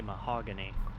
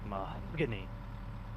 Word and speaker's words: mahogany: wood shop teacher because the way he would say mahogany but it sounded like he's saying a bad word or a lot of emphasis on the last syllable the word and he would just go like my kidney um okay oh yeah